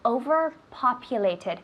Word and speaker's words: overpopulated: How do you say overpopulated? Careful with the pronunciation. Overpopulated, the tid at the end.